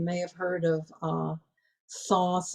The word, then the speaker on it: Thoth: have heard of uh thoth or sometimes pronounced toast she's the counterpart um